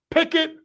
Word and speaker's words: Pikkit: Pikkit, not Kenny Pickett. Different Pickett. Different spelling. It sounds the same.